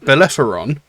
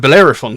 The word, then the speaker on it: Bellerophon: the legendary Phoenician founder of uh Boise who's pronounced that horrible he was apparently the first Greek hero and alongside Perseus and bellefaron and bellerophon sorry um the greatest hero and Slayer of